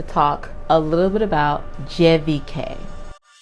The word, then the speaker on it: CVK: is helpful so cvk as it's written in the english language is actually pronounced jvk their concierge was amazing